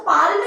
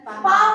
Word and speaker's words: palm: और एक पाम भी बच्चे होता है, PALM, हाँ पाम, उसको पाल में नहीं पढ़ते, पाम पढ़ते, पढ़ा जाता है।